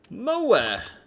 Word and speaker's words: move: come a long way moa this would be how you would say move it is of course pronounced mo not move to make it plural